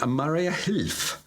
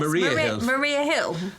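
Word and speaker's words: Mariahilf: the top of the Maria Hilf. I think that's how you pronounce it. I think it's Maria Hilf. Oh, Yes. Maria Hilf. Maria Hill. Maria Hilf.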